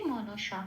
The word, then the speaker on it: মনসা: আচ্ছা তারপরের শব্দে আসি মনসা কোন হসন্ত নেই খেয়াল রাখতে হবে প্রত্যেকটা অক্ষর ধরে ধরে পূর্ণরূপে উচ্চারিত হবে মনসা এটা তাহলে প্রথম লাইনের